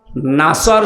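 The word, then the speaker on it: نصر: মানুষগুলো তেলাওয়াত করে ইদাসরুল্লাহি আলফাত নাসর শব্দের শাব্দিক অর্থ হচ্ছে সাহায্য আর নুন সিন নাসর মানে শকুন আপনি আল্লাহকে বলবেন যখন আসবে আল্লাহর সাহায্য তখন আপনি বিজয় দেখতে পাবেন এখন যদি কেউ সিন দিয়ে উচ্চারণ করে বলে যখন আসবে শকুন তখন আপনি সাহায্য দেখবেন আমি আশা করছি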